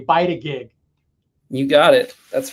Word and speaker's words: Bytagig: And I think I was one of the few that was able to pronounce it correctly, Bytagig.